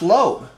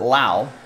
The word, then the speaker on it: Lowe: and behind gavin sheets is josh lowe 133 out of 249 so brandon pronounces it lao and josh pronounces it low tampa bay rays it's